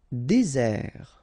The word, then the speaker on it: désert: Désert, okay, remember, final T not pronounced, désert. And really this Z sound just because you get one S between the two vowels, okay? Z, désert. Décider.